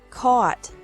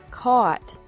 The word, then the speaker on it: caught: catch, caught, caught, fight, fought, fought, seek, sought, sought, teach, taught, taught, think, thought, thought. Remember that the G is silent in these verbs.